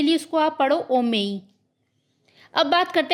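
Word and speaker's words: homem: तो जो हमारा लेटर एच है वो हमेशा साइलेंट रहता है। उसको हम नहीं पढ़ते। हम यहां पे क्या पढ़ेंगे इसको? ओमेई।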